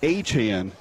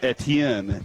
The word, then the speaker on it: Etienne: And we just learned that Trevor Achan is the way that you say it, not Trevor Etienne.